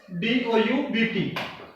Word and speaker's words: doubt: will be silent as d o u b t D is b40 then B will be silent and the pronunciation will be doubt okay being silent here